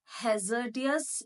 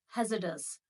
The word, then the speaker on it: hazardous: It is not hazardous, it is hazardous.